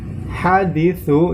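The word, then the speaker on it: حديث: Haditsu di situ terdapat sa, menggunakan sa yang tipis. Contohnya haditsu. Ya.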